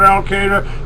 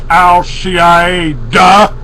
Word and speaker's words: al-Qaeda: you keep hearing about al-qaeda that's I'm sorry I should pronounce it properly it's al cie duh yeah yeah uh-huh that's